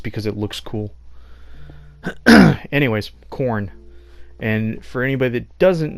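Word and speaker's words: Korn: hell my saying is it still is corn that's Kor n not corn on the cob like corn it's spelled different I don't know what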